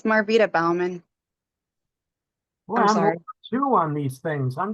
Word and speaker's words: Balman: miss Bowman good morning good morning it's marvita Balman two on these things I'm just gonna call plth Independent um that's probably a lot easier um you pronounce it Balman Balman yes sir I'll make that change Mr